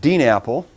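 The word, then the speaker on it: DNAPL: DNA PL and and I pronounce that Dean Apple because it sounds like an Apple thing okay that barrel up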